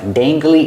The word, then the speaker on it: dangly: about the letter A how do we pronounce the letter A with a and g use a long a like say and Hey Day dangly he has dangly